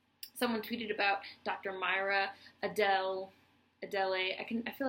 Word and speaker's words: Adele: a d l e to me that looks like adelay but I'm 100% sure that's not how it's pronounced I think it's Adele not Adele not ad